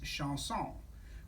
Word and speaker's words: chanson: behind that his name is lyric chanson and chanson pronounced in french is sean song which is french for song so uh he's